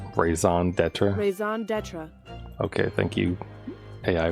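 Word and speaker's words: raison d'être: means right but how do you say it raison d'etra Ison deter okay thank you hey I voice it is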